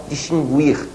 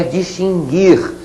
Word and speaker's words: distinguir: essa é perigosa que muita gente por aí fala distinguir a pronúncia não é essa tá bom gente a pronúncia é distinguir sem pronunciar a letra U bom já colocamos logo